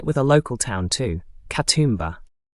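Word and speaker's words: Katoomba: Katumba. Put the stress on that middle syllable and relax the final vowel.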